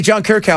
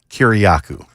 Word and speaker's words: Kyriakou: What was the I was saying it wrong the whole time, too, till I actually heard him say it, but it's Kyriakou.